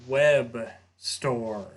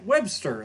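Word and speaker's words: Webstor: a little bit older, I'm like, oh, Web Store. Like, because same thing. Like, I'm just thinking, I even knew how it was spelled with the O, but I'm still just thinking, like, Webster.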